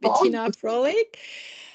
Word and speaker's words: Bettina Fröhlich: So my name is as as you told Betina Frolic and um yeah um I pronounce it in in English but my name um